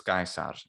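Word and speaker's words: Caesar: name it's that's odd his name is julius gaisar that's how anyone would address him um so that's really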